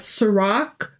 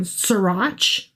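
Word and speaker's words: Sirach: We've got Sarak, which I had been pronouncing Srirach because it's with ch. Sure. Um, but it apparently is a hard C or a K, if you will.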